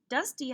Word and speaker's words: dusty: Dusty has the vowel Y, but it's in a two-syllable word, so it sounds like an E.